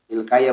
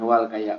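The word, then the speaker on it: Ilkiya: Ilkaya bacanya, bukan wal kaya, wa Ilkaya.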